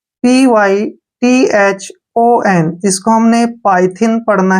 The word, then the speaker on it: Python: ध्यान रखिए, जब भी दो कॉन्सोनेंट के बीच में वाई आए तो हमने उसको आई पढ़ना है। जैसे पाइथन, टाइप, इसमें भी दो